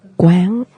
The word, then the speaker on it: Quán: And Quán, Quan, accent on the A, something on the A.